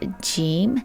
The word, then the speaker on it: ج: And the second one is called gim and it sounds j.